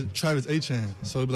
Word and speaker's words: Achane: say his name because I thought it was Achane the entire time he was at A&M, and then it went from that to Achan. They are both Achan.